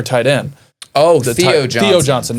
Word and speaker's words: Theo Johnson: Theo Johnson, not Theo Ty Johnson. Yeah. Got his name wrong.